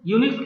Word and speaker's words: Unix: यूनिक्स क्या है? इसे प्रोनाउंस करते हैं यूनिक्स। क्या बोलते हैं?